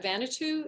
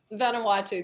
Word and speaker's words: Vanuatu: i mispronounce um vanito is that vanity or vanatau i'm sorry i'm probably butchering it becca what is it ottawa vanuatu thank you um don't make